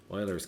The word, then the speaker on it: Euler: That's Euler's constant. You pronounce it Euler, okay? Not Euler, but Euler.